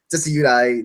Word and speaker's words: Decidueye: Well, I prefer Rowlet, and I'm sorry, I prefer Litten to Rowlet, but I also prefer Decidueye. That's how you pronounce him.